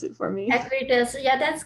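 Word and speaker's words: Acuitas: can say this, Acutes, and maybe Noeen can pronounce it for me. Acutes, yeah, that's correct, Acutes.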